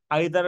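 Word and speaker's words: either: কোনগুলা লিখছি each every আইদা Nida এই দুইটা উচ্চারণ প্লিজ ভুল করিয়েন না আইদার নাইদার না ইদা না ইটস আইদা নি দাদা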